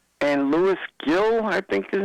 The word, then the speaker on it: Gil: And Louis Gill, I think his name is. Gil, I think that's his name. Louis, yeah, in Spanish it's pronounced Hill.